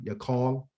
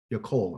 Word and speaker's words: yakol: If I was to spell it out, it'd be Y O-K-E-L or Y-A-K-E-L, yakal. Yakol, I'm sorry, no, it's yakol. It's just reverse, excuse me. It is a Y, yakol. Y-A-K-O-L, okay? Yakol.